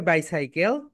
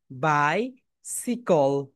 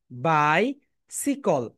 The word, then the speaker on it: bicycle: এটাকে বাইসাইকেল বলবে না, বাংলায় বলবে বাইসাইকেল। কিন্তু তুমি যখন ইংলিশে বলবে তখন কি বলবে বলো তো? বাই, বাই সিকল, সিকল। বলো মাই ডিয়ার স্টুডেন্টস, সবাই বলে ফেলো, বাই সিকল।